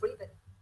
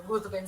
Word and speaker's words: Ruthven: encanta porque si no mal recuerdo en la serie lo llaman Lord Riven, que es la pronunciación que se supone debe tener el nombre, pero creo que todo el mundo coincide en que Ruthven se oye mucho más fuerte, entonces todos preferimos decirle Ruthven, incluso los que sabemos que en teoría se debe Es, pronunciar de otra manera.